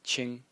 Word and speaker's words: 清: So as for the series, the first character in the series is pronounced Qing. In the first tone, and it means clear.